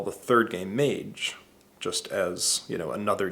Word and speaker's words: Mage: it to people, and most people mispronounced it. I would get Madge, and I would get Maj. And actually, of the folks I showed it to, I think a majority mispronounced it. And to me, that's just a kiss of death with a name, with a brand name, as if a lot of people don't know how to say it.